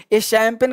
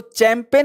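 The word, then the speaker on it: champagne: शराब का नाम शैंपेन शैंपेन का स्पेलिंग अजीब होता है उसमें इसको चैंपियन नहीं पड़ते शैंपेन पाते हैं तो सैंपल का मतलब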